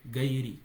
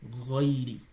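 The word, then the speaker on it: غير: So it's not ga. People will say gairi. It's not gairi. Ghairi.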